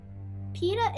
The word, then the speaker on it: Peeta: Peeta is a type of Middle Eastern bread. Though his name is spelled with 2 E's instead of an I, it is the same pronunciation.